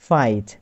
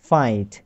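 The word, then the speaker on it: fight: ব্রাইট ঠিক একই রকম ফাইট এখানেও আই জি এইচ টি এর উচ্চারণ হয়েছে আইট তো এফ এর সাথে মিলিয়ে পড়লে হয় ফাইট ফাইট লাইট নাইট site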